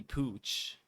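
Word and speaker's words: Puig: was like oh pooch he said pooch that was yeah that's how you pronounce it oh yeah if you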